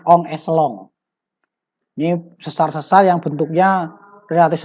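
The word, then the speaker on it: en echelon: N echelon tulisannya, bacanya on echelon.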